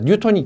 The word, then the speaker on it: 뉴턴: 뉴턴이 기본 단위는 아닙니다. 글자가 한 글자로 되어 있다 해도 기본 단위는 아닙니다. 자, 그러면 9.8 뉴턴인데 우리가 생각할 때는 그렇습니다.